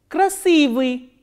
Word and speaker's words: красивый: K, R, A, S, I, V, I and I kratke, and the stress is on I. Красивый, красивый, красивый is beautiful.